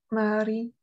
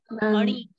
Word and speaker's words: Mani: Pronounce Mani sound again. Mari. Not Ri. Ana. Mani. Mani. Mari. You are pronouncing Ra sound. Ra is not there.